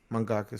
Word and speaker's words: mangaka: what does what yeah so it's like manga and you just had a ka at the end mangaka mangaka this sounds weird i